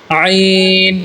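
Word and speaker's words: عين: আইন জবর আ। আমি বলা শেষ করার পরে বলবো সবাই। আইন জবর আ, আইন জবর আ, আ আ। আইনের উচ্চারণটা হবে গলার থেকে, হলকের মধ্যখান, হলকের মধ্যখান।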